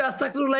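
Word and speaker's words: أستغفر الله: হবে মোটা মোটা হবে আর মোটা হলে বাংলা কিসের মত হবে ল হবে তার মানে কি হবে আস্তাগফিরুল্লাহ আস্তাগফিরুল্লাহ আচ্ছা এই ফিরুল্লাহ হবে না না আস্তাগফিরুল্লাহ হবে কোনটা হবে আচ্ছা এখানে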